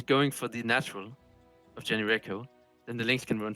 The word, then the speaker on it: JonnyREcco: Apparently it's pronounced Rico. Is it Rico? No, sure. JonnyREcco.